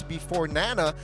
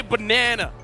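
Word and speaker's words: Beforenana: But yeah, I mean, Banana here or here, it's before Nana, but RRQ. Or Nana. It's you know what? Casters, say his name right. Don't say Banana. It ain't it. Before Nana.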